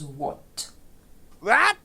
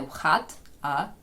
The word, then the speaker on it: What: означає що або який зверніть увагу ми маємо дві літери на початку w H і H в цій позиції мовчить а е переходить на о тож читаємо ми не вхат в This is a